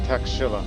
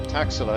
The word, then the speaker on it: Taxila: is in textular or taxila it depends on your pronunciation people but I call it taxila after learning a lot about Indian history long ago and I have this habit of pronouncing it as such but again Imperial challenge